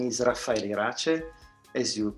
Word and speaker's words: Raffaele Irace: all good morning from germany my name is rafael rache as you correctly pronounced and i am the program director of